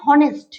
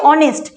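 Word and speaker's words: honest: হবে তো এখানে দেখো আমি কখনোই বলছি না যে হনেস্ট বলছি না তো আমি কি বলছি অনেস্ট আর অনেস্ট মানে কি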